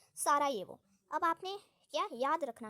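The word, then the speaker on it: Sarajevo: यह जो European countries हैं यूरोप की जो हमारी इंग्लिश है उसकी एक्सेंट देखी जाए तो उसमें जे को हम क्या पढ़ते हैं? जे को हम वाई पढ़ते हैं। तो इससे आप सारा जे वो प्रोनाउंस बिल्कुल भी नहीं करेंगे। ये रॉन्ग हो जाएगा। इसे हम प्रोनाउंस करेंगे। सारा ये वो ये बिल्कुल ही करेक्ट हो जाएगा।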